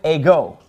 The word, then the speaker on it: εγώ: Now, the word ego, it gets the accent on the second syllable. See, that accent is over the omega.